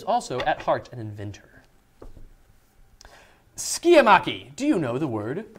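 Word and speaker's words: Sciamachy: Spell that one out loud for me. Skiamaki. S-C-I-A-M-A-C-H-Y. Skiamaki.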